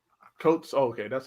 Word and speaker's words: Coates: Captain America by I can't pronounce his name. Coates.